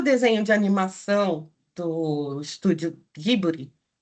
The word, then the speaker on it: Ghibli: E aqui eu mostro algumas imagens do filme de animação A Viagem de Chihiro, do estúdio Ghibli, né? Para nós é Ghibli, mas os japoneses pronunciam Ghibli.